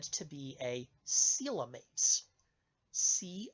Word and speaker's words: coelom: what is called a coelom now the spelling of that word does not sound like what I just pronounced coelom is spelled c--